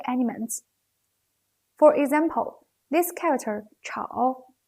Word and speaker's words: 吵: We can say the pronunciation of 吵 is not as same as its phonetic element 少.